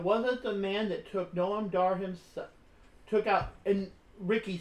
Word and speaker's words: Noam Dar: And I'm actually thrilled for Norma Dar. Noam Dar. Okay, it's spelled weird.